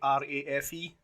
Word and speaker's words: Ralph: reef ray reef is it sounds like r a f e reef that's how you